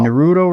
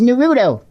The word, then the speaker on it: Naruto: Naruto run? I'm going to get a bunch of stuff from anime people. That is not how you say it, Tim. That is Naruto.